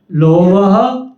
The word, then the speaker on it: लोभः: प्रवृत्ति ही दो बिंदियां आ गई ना, जहां दो बिंदियां आ गई हल्का सा ह उच्चारण करना। लोभः प्रवृत्ति ही, आगे आरंभ,